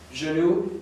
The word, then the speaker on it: genou: Genou.